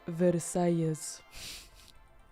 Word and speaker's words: Versailles: Oh, it is Versailles.